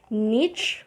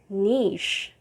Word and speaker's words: niche: you say you can either say niche or niche and this means a